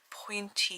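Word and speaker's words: pointe: it there we go I don't think you pronounce the E though point you say Point don't you it's like the ballet shoes isn't it so I'm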